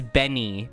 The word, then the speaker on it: Benny: It's not Betty, it's Benny. Bennie. Benny. She always gives me shit. You deserve it, TPO. As in Benny and the Jets.